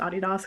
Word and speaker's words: Adidas: which is adidas but actually it's pronounced Audie das cuz it's named after Adi Dassler and his brother who